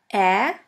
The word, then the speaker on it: Ä: We call it Ä, or A Umlaut. A Umlaut. A Umlaut is pronounced like the E in the word melon or in the A of the word H.